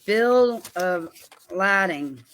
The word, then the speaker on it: bill of lading: But this paperwork that I have here that is, it is the Bill of Lading is the way it's pronounced.